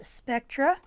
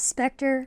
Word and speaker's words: Specter: Halloween horse pin of Spectra side note I've actually been pronouncing this model's name wrong it's Specter not Spectra I'm sorry for pronouncing